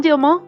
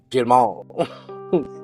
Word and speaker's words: Dielman: Because Dielman is not French, but they pronounce it as if it were French. Yeah. Dielman.